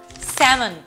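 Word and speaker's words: salmon: এল অ্যালফাবেটটাও কিন্তু অনেক সময় সাইলেন্ট হয়ে যায়, যেমন এই শব্দগুলো খেয়াল করে দেখেন, could, should, would, talk, স্যামন, এই সকল ক্ষেত্রে কিন্তু এলটা সাইলেন্ট, এবং এটা কিন্তু নেটিভ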